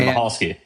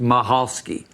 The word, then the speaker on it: Michalski: Mahalski. Yes. Mahalski. It has the mic, but it's C isn't pronounced. It's just Maholski.